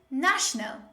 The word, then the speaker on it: national: The next common mistake is the word national. National. But most learners, they pronounce it like national. National. No, this word is not pronounced like national. The correct way is national.